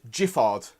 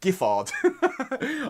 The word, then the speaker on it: Giffard: the officials in francaise that it is jiffard not giffard after after like 25 years in the booze industry it's finally been clarified to me it's jiffard with a j even though it's spelled go so uh what's your